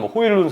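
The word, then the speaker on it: Højlund: 아탈란타의 공격수죠 해일은 혹은 호일룬 선수 본인 발음은 호일룬 선수가 맞다는 얘기도 있긴 하더라고요 호일론 선수까지이 생각을 했을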